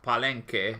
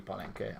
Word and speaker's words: Palenque: By the way, I think it's pronounced Palenque. Yes, it should be Palenque. I went with the French pronunciation, but it was incorrect.